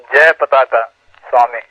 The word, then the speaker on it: Jayapataka Swami: Yes, and by the way, Joe, I think his name should be pronounced as Jayapataka Swami.